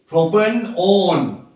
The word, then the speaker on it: propanone: Propanone.